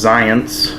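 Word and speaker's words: Xyience: is it's spelled X Y ions apparently it's pronounced science and the flavor on this one is cherry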